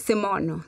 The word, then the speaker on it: Semono: Did I say it right? Or yes, Semono. Yes. Semono. That's correct. Yes. That's correct.